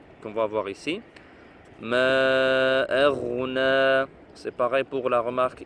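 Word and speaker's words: أغنى: Ma aghna. C'est pareil pour la remarque ici. Roin. Quand on a fait ici, dans Surat An-Nasr, Ghain, ce n'est pas Kha, ce n'est pas Ma aghna, Ma, c'est Ma aghna, aghna, anhu maluhu.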